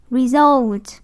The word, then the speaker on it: result: Result. Result. Result. Như vậy thì ở đây là âm 2. Result. Các em thấy âm dấu quyền nè. Ở đây dấu quyền đúng không? Re là dấu quyền nè. Result. Result. Như vậy thì result. Nó đâu có dấu đâu. Như vậy nó thanh ngang.